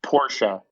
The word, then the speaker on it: Porsche: bat i know that you're supposed to pronounce it porsha but i just can't